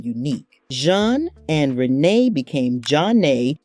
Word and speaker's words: Zhané: Jean and Renee became Zhané, flipping the script with the French pronunciation and a jazzy Z for flavor.